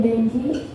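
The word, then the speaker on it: dengue: ठीक है, तो जब डेंगू होता है ना, सबसे पहले तो हम जो बोलते हैं ना डेंगू हो गया, डेंगू हो गया, तो वो डेंगू नहीं होता, उसका करेक्ट प्रोनाउंसिएशन क्या होता है? डेंगी।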